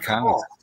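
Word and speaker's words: karst: I know this is sandstone, but limestone in geology is called cast, spelt with a K.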